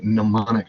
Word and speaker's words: mnemonic: this simple device and it's called a mnemonic device that m is silent you don't have to